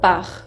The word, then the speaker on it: pars: Je pars, con una S que es muda. Tu pars, también es una S que se le agrega y que no se pronuncia.